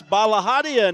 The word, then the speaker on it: Balahadia: And I have to admit, I let that play somewhat so I could hear how they pronounced Eliza's name, and I got to hear it. So I know it's Balahadia now, and I think I had it right or pretty close to right.